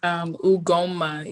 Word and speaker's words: Ugonma: My first name is Ugonma. You don't pronounce the N. Silent N.